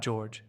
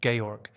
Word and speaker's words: Georg: Gayorg Bolt was 13 when he left Prussia. Not George Gayorg.